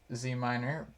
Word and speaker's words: ZMiner: Yeah, I tend to pronounce it as one syllable.